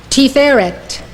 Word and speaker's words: Tiferet: This is how they are pronounced. These 9 Sefirot emanate from Keter. Chokhmah, wisdom. Binah, understanding. Chesed, love. Gevurah, power. Tiferet, beauty.